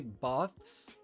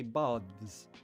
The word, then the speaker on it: baths: or you could say baths, the baths. Some people say that, like in the city, Bath, there are very famous Roman baths. Some people pronounce it baths with a voiced v.